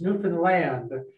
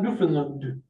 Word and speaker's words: Newfoundland: states pronounces it correctly it's newfoundland not newfoundland is the lund uh it right just understand understand newfoundland understand newfoundland you can say newfoundland too you put the accent on the news as long as